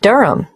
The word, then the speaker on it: Durham: at one uranga street durham how do you spell durham d-u-r-h-a-m of course i should know that but it's just one of those names that sounds quite different from the way you spell it it is confusing i've